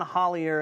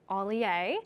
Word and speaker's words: Hollier: But that night we have John Hollier and The Reverie coming to the festival as well. I'm going to correct you because I looked it up and it's pronounced Ollier. Ollier.